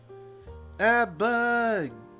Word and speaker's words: ABBA: Abba! Gimme a man after midnight. Oh. I never heard of anyone pronounce the band ABBA as individual letters.